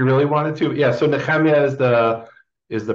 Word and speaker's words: Nehemia: Yeah, so Nehemia is the pronunciation I grew up with.